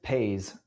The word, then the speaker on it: Paze: Okay, what is Paze? Say it like "pays", P A Y S.